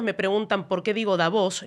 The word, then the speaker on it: Davos: preguntan por qué digo davos la la pronunciación real es davos con tild después se hispan y